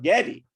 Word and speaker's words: Geddy: So Gary, because of his mother, who came from the old country, eventually renamed himself Getty. That's spelled Geddy, even though, of course, he was Gary.